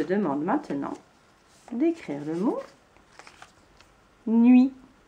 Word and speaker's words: nuit: Je te demande maintenant d'écrire le mot nuit. N'oublie pas la lettre muette à la fin. Vérifions. Le mot nuit s'écrit N-U-I-T.